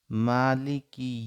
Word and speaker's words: মালিকি: মা এক আলিফ টান, মালিকি ইয়াউমিদ্দিন।